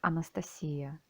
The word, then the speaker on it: Anastasia: our lord jesus christ my name is anastasia or you pronounce it in russian like anastasia i am a translator